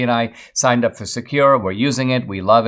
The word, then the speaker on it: Sekur: Secure is the better way. It's spelled S-E-K-U-R, and it offers secure